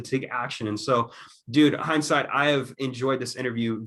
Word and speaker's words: Hynesite: So Love it's basically, so it's site, just SITE, and then Hine with the Y in front of it.